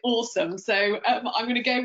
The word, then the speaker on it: Osome: to speak japanese and if you literally wrote that in japanese it would be oh so may but of course you pronounce it awesome so i'm going to